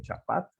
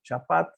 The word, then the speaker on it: chapat: El nombre de este animal se lee Chapat. Y sabemos que se lee así porque es sustituido por un deletreo silábico que podemos pronunciar como Chapat. Se escribe cha, pa, ta. ¿Sí? La vocal final no se pronuncia.